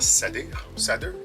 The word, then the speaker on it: Sadr: Il y a l'étoile aussi Sadir, d'ailleurs S-A-D-R, Sadir, comment on le prononce.